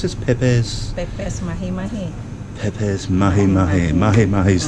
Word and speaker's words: Pepes: make you can you tell me how you pronounce this peppers peppers mahi mahi mahi Mahi's the fish and